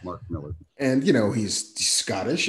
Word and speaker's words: Millar: of mark miller who i keep wanting to say his name is mark milar but i know he's not we know it's mark miller though but yeah it's marketable